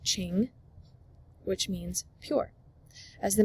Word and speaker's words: Qing: They established a new dynasty, pronounced Qing, which means pure.